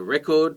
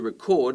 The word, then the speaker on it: record: You put on a record to play, back in the olden days, but you record a video like I'm doing now, the verb, stress on the second syllable.